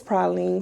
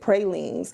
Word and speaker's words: pralines: And so the other lady, she said, well, you mispronounced it and said pralines. And I said, really? I said, no, it's pralines.